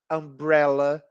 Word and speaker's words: umbrella: uniforme e University e algumas palavras têm som de a como Umbrella então também no caso